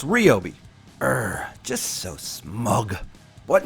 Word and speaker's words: Ryobi: cop tool once again called me out for pronouncing it wrong they say it's REO be er just so smug but not only that right OB themselves had told me personally that it is pronounced REO be not Rio be saying that I was wrong